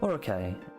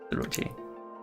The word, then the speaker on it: Orochi: I used to pronounce Orochi very wrong, apparently, and it's just engraved whenever I see it. I'm going, Orokai. No, Orochi. Excuse me.